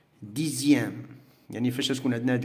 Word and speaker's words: dixième: Alors, on a le son X, ça se prononce Z, qui est Z.